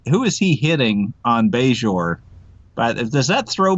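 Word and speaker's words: Bajor: tell you why because you'll notice that he pronounces it budge or and it's true yes he doesn't say beige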